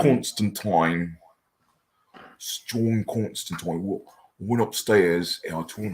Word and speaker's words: Constantine: Constantine so how it's Alan Morrison pronounces it Constantine constant twine strong coincidence and I